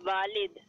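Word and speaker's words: ولد: मन हाजा अल वालिद, वालिद नहीं है, प्रोनाउंसिएशन की भी गलती है, मतलब की भी गलती है। वालिद तो अब्बू को कहते हैं। मन हाजल वलद, वलद वलद क्या ठीक है।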